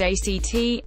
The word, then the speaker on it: AC3T: AC3T, pronounced ACT, the bowling pub that G-Dragon also had a hand in planning and designing, recently opened at the end of March.